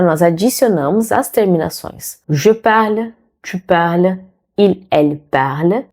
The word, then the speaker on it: parle: O som morre na letra L.